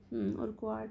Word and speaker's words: Urquhart: उन्हें कहा गया कि तितलियों को टैग करें ताकि डॉक्टर फ्रेडरिक ए उर्कवार्ट उर्कवार्ट होगा इनका प्रोनाउंसिएशन, और उनको टैग करें ये चीज़।